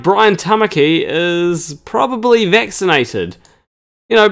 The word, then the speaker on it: Tamaki: magic roundabout snail would it rhymes with trying bummer key and yeah so seems like brian tamaki is probably vaccinated you